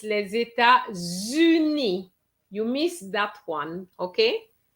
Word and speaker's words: États-Unis: You both pronounce well because sometimes students say les États-Unis. And that's the kind of pronunciation I've heard in the past. So you pronounce it well. So les États, okay. So the S and the T are silent for the word state, and uni.